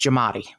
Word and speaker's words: Giamatti: know it's actually pronounced jamat jamat yeah in instead of Gatti it's it's jamat yeah jamat you you leave out the a it's pronounced jamat you know so that's